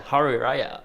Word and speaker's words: hari raya: the Malays call it hi raha hai wah hari raya hari raya yeah hari raya hari raya is that is that the pronunciation sorry right yeah how are you hari